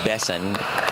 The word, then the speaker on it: Besson: I'm told it's Sananes and Besson.